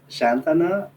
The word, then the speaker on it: Schernthanner: Shantana, if is correct. Yes, in German it's pronounced Shantana.